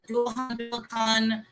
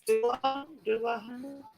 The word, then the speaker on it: Dullahan: There's some, like I said, Dullahan, or Dullahan. So that's Dullahan. Those are the different pronunciations of that particular word.